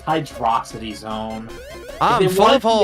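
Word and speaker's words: Hydrocity: You know, I used to call it Hydro City, and then I saw Mega Mind. It's Hydrosity. Exactly!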